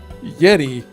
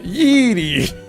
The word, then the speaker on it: Yeti: For your information, it's pronounced Yeti, not Yeeti.